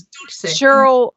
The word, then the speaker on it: Dulce: So, and I know like this, like Doyce, am I pronouncing that right? So if somebody out there doesn't know if I'm not pronouncing this right, Doyce, Doyce, it's Dolce, whatever. I did a lot of research on that. It's Dulce.